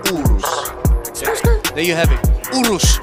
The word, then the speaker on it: Urus: Urus, not Urus, not Urus.